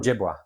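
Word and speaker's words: Ojibwa: So, the the Ojiua or the Ojiua, I'm not sure how how do you say that properly? Ojiua.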